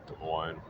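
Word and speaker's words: Des Moines: I don't think you pronounce the S's. De Moines.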